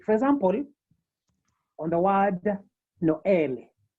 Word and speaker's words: Noël: And this means that whenever this accent is used, you are supposed to pronounce the affected syllables or independently. For example, on the word Noël, Noël, or maïs, yeah, Noël, that is for Christmas, Noël, and maïs for maize.